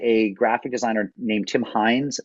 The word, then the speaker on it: Hindes: And it was created by a graphic designer named Tim Hines, not spelled like Heinz ketchup, which is of course one of the great Pittsburgh companies, spelled Hindes.